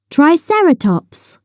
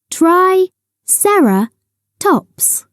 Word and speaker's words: Triceratops: three horned face how do you say it Triceratops say triera tops in the swamp a muddy swamp is a